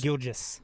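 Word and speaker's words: Gilgeous: Uh hey uh uh SGA is it is it is it pronounced Gilgus or Gilgis? Gilgis.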